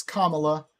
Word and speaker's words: Kamala: It's Kamala, and yes, that is what I'm saying. Anyway, nitpicking, whatever. No, that's how you pronounce her name.